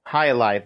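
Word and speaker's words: jai alai: I don't want to mispronounce it. Hi, I believe. Um Halai.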